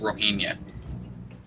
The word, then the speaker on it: Rohingya: They're called sorry if I say this wrong, the Rohingya? I don't think you pronounce the G. I'm pretty sure it's just Rohingya.